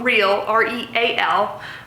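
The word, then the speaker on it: RealReal: Go to The Real Real, R-E-A-L. I probably pronounce it rail because I have a bit of an accent. The Real Real.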